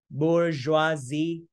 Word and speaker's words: bourgeoisie: Này, Z, bourgeoisie, nhấn âm 3 nha.